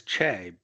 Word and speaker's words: Che: See, my name is Che, but it's spelled C-H-E. If I put C-H-E in here, it'll say, you have reached Che's voicemail. I want it to sound like Che's. That's why I put it. So phonetically, it sounds right.